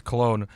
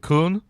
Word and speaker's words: Köln: It's in Cologne, so like the city Cologne in Germany, so it's Cologne, but they pronounce it Köln.